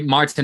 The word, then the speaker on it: Martijn: you say that um well actually Martin is more than fine it's originally it's m